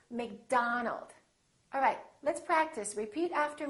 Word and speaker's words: McDonald: with the letter O make sure that you don't say oh it's not Robert it's Robert it's not McDonald its McDonald alright let's practice repeat